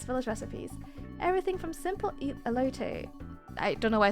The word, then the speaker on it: Elote: Alote. Why did I say it like that? Alote. There you go. Alote. Alote. That's a sad room. Ooh! Money! Yoink! Oh. A loot. Elote.